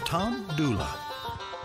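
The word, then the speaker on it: Tom Dula: the American Civil War Tom Dooley was locally known as Tom doula however the spelling or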